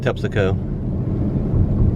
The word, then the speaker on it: Terpsichore: This is Terpsichore, but my mom used to call it Tepsico. Tepsico for short, but it looks like Terpsichore.